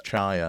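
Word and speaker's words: Tchia: They also, I think I'm going to pronounce this Chia. I think it is to Chia. I think Uh, it's Chaya.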